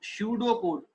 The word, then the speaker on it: pseudocode: Here P is silent. It is called like pseudocode.